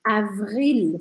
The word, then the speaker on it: avril: O próximo, avril, ficou tudo sublinhado. Avril. Olha esse L aqui, tem que fazer o L bem redondinho, não pode engolir